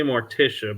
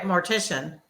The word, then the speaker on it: mortician: it is it because I keep wanting to say mortia but it's not mortia like mortia the um Undertaker person right but you were right mortician oh okay yeah that